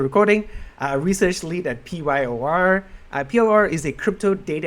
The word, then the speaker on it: PYOR: It's pronounced as PYOR.